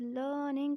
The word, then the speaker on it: learning: It is pronounced as learning or learn because R has to be kept silent. The reason is that R is followed by N and N is not a vowel, so in British accent